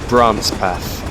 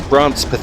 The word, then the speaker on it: Brancepeth: And we'll shortly be going through the next station, which is Brancepeth. I think that's how it's pronounced.